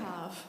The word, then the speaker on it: cave: cob. And cheese, what? Cob. Cheese cove. It's What's the a thing. cheese cob? It's It's a a cheese cave. Okay. Cob. That's how you say it in French.